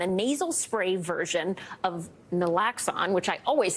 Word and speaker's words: naloxone: sayal first things first correct me on proper pronunciation there Max alone naloxone naloxone every time okay this is a very